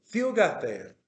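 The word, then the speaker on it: θύγατερ: oxítono, habíamos dicho que en el vocativo el acento se retrae y se retrae lo más que se puede. Y aquí donde lo retrajo, a la antepenúltima sílaba. Fiugater, Fiugater, por decirle a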